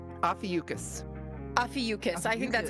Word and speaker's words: Ophiuchus: pronunciation. It's Ophiuchus.